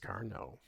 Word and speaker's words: Carnot: I know it's spelled Carnot, but it's pronounced Carnot.